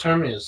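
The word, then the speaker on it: Hermès: It's spelled exactly as Hermes, is it not? Oh, it is. Yeah. Oh. They just call it Hermes.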